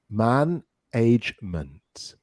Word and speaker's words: management: The stress goes in those first 3 letters. Man, good. Management, management, management.